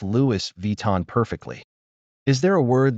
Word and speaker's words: Vuitton: The vui sounds like V, and the ton sounds like ton, like the color tan, with a W sound in the middle. The O and N combine